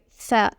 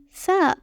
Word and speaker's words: ف: It is pronounced like the English F sound in fun.